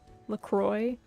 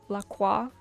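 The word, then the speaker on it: LaCroix: the what is it the Selter brand lacroy so like instead of laqua so like you know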